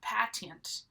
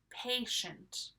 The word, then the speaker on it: patient: a lot of times you might think that this is pronounced patent but it's not it's patient patient and this word has